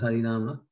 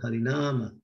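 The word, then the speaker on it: Hari Nāma: this word Hari Nama, you see above the word Nama, and then the first A, there's a line. That means that it's emphasized, Hari Nama. Not Hari Nama, but Hari Nama.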